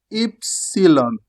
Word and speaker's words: ipsilon: How do we pronounce it in Italian? Ipsyon. Why is ipsy long?